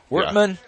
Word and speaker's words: Workman: Workman rhymes with workman. If it doesn't, it should.